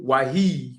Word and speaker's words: Wahid: name of Tank, and I didn't want to mispronounce it, but you said Abdul Wahid, correct?